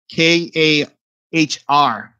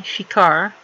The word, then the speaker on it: ShiKahr: It's the Shikar. Shikan. Shikar, like Okay, it's kind of like hard to pronounce, but it's SHIKAHR. Yeah, Shikar.